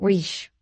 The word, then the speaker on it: rich: "Our English adverbs do not terminate in "mong," and we pronounce the ch as if there were a t before it. We say rich."